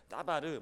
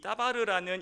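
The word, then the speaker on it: דָּבָר: 그래서 이 히브리어로 이 말씀이라는 단어를 하면은 별건 아니지만 이 다바르라고 발음을 합니다. 따바르 이렇게 반응하는데, 그 구약에서 말씀이라는 이 뜻은 뭐냐면은 그냥 단어입니다.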